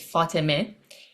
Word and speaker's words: Fatima: So, how it's supposed to be pronounced is Fatime, Okay, but Fatima is like the closest it's gotten, I think.